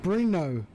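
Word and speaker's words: Brno: Bruno. Oh, really? That how you say it? So, the I is non-existent but not silent. It goes against all grammatical teachings I have had in the past.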